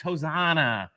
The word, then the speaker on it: Hosanna: No. Hosana. Hosana. Hosanna. It's Hosanna.